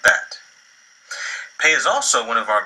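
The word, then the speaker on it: פא: Pei is also one of our Begad Kafat letters, so when it has the dagesh within it, it's pronounced like a P, and when it does not have the dagesh, it's pronounced like our F.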